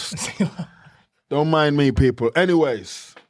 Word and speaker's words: Sylla: Are you telling me how you pronounce it again? Sylla. I almost wanted to say Sylla, but it's. Sylla.